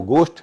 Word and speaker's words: ghost: भूत के लिए अंग्रेजी में शब्द है वो गोष्ट है, घोष्ट नहीं है।